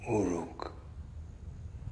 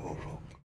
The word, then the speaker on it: Uruk: You're saying it wrong. It's Uruk. We prefer Uruk.